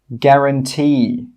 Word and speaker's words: guarantee: The letter U is often not pronounced when it's after a G and before a vowel. Some common examples are guard, guarantee, guide, guest, guess.